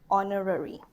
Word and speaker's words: honorary: Okay, and how about honorary? It's a vowel sound.